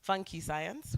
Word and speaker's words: Funky Science: co-founder and CEO of Funky Science. We have several pronunciations you've heard. It could be Nigerian funk. It's not. It's still funky. There's also fun which Lilian has said. No, it's funky science.